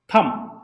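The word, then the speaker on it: thumb: है यह है आपका थम लेकिन इसको प्रन किया जाता है हमेशा थ थम नहीं बोला जाता बी जो होता है व साइलेंट होता है अब इसके बा देखिए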